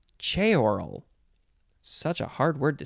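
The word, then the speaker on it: ceorl: c-e-o-r-l it is pronounced che oral it says that it's two syllables but i feel like it should be three syllables che oral ch oral okay noun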